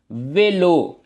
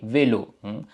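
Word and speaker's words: vélo: அன்னே என்று வாசிக்கிறோம் ஓகே நேரா மிதி வண்டி சைக்கிள் அதை வந்து நாங்கள் வெலோ என்று வாசிக்கிறோம் ஓகே வெலோ அப்ப உங்களுக்கு விளங்கி இருக்கும்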